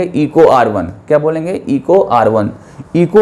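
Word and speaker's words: EcoRI: ये एक एग्जाम्पल है रिस्ट्रिक्शन एंजाइम का, जिसको आप क्या प्रोनाउंसिएशन करेंगे, इको R1।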